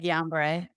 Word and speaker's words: Guillain-Barré: Guillain-Barré. Guillain-Barré.